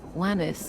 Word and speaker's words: Lemis: The idea with them is, funny enough, it's not really war-related, but because my name is Lemmis, everyone was like, oh, Lemmis rhymes with, or Lemmis sounds like lemon, so then the lemon joke showed up.